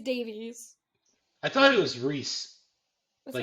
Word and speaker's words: Rhys: It's Rhyse. I know how it's spelled. I'm just saying, I thought it was more like Reese.